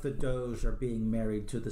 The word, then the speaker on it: Doge: Now, D-O-G-E, how did you pronounce that?